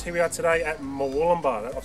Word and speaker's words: Murwillumbah: Here we are today at Murwillumbah. I've said it right? Yes. Murwillumbah, yeah.